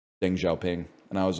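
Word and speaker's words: Deng Xiaoping: and I was like I pronounced Deng Xiaopang's name wrong and like all the other kids in the class I say other kids as if I was a kid. I was the teacher. All the kids in the class laughed at me and I was like why are you laughing? And they're like it's pronounced Deng Xiaoing.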